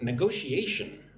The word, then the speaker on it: negotiation: All right, next up, the word negotiation. Look at the pronunciation of this word. Ne-go-shi-a-shin. 5 syllables. Negotiation.